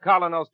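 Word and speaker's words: Kolynos: So start each day the Colinos way and let Colinos toothpaste help you keep smiling.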